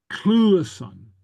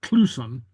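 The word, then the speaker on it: cluasan: like right here again, Cluason, Cluason, Cluason. You see, so pronounce both those letters there. Like I said, it's not always the case, but it's very often the case. Cluason. Okay, so not Cluson.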